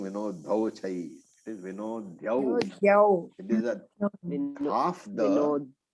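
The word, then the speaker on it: विनद्योच्चैः: Now Vinodya, that is a dha and a ya. It is not Vinodho. I heard some people saying Vinodho chai. It is Vinodhyau.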